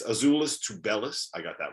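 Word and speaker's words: Azuolas Tubelis: learned that i have no idea how to pronounce anyone on arizona's uh name because it's azulis to bellas i got that wrong it's dale and terry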